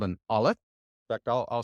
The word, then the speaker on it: aleph: I want you to pay attention to that very first movement in your throat and the sound notice how that's almost silent the olive is silent it's actually just a stop you would just stop in your throat kind of like oh oh it's that stop between that word that's the olive so it it's actually